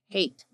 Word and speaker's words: Heth: hate you know in in English it looks like Heth h t but it's in Hebrew it's pronounced hate Palace we already know